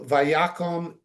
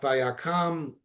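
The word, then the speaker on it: ויקם: So Vayakom, again, like Vayamot, it's not Vayakam, technically it's Vayakom, because the root word kum, getting up.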